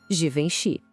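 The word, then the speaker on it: Givenchy: O G no começo tem aquele som de J, como na palavra gente. Depois vem um som bem nasal, vom. E para fechar, Xi, juntando tudo fica assim.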